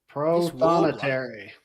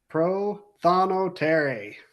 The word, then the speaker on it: Prothonotary: Now, let's get the pronunciation right. Yes. Prothonotary. This warbler, yeah. What? How do we say it? Prothonotary.